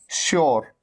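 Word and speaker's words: sure: उसी तरह से श्योर, श्योर, श्योर, श, श्योर, और ये है एंश्योर।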